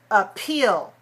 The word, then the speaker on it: appeal: All right, now let's take the word appeal. Appeal, 2 syllables. Stress a second.